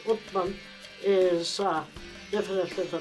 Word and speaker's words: Osman: I mean, the name, I asked the faculty members about the name because the name Osman in English is sort of pronounced as Uthman, is definitely the name of one of the caliphs following Muhammad.